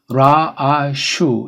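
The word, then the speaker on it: ראש: 아무튼 그래서 라, 아, 슈라고 발음하죠. 여기 이제 모음이 없는 거니까 이건 이제 안 쓰기로 사람들이 정해서 라, 아, 슈 이게 정확한 발음이에요.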